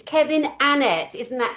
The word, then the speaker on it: Annett: Kevin Annet and that's how you pronounce it, guys. It's Kevin Annet.